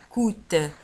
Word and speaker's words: coûte: ولاحظوا على أن coûte تكتب بC O U chapeau T E وتنطق coûte.